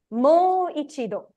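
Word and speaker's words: もう一度: Just pronounce it as mo. Mo. Mo. Then? I. Ichido. I. Do. Do. Yes. Mo ichido.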